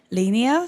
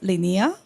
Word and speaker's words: Linea: new DK evm called Linea so it's not pronounced as Linea but Linea uh so somehow we